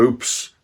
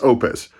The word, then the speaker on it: Oupes: oops oops oop is i said their name wrong so many times i actually had to text them uh or email them and make sure that i got it right it's opus um but i got it